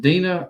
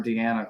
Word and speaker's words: Deana: lightning this is about is it dina or deanna carter i mean it's spelled deanna but i think everybody says dina i think so too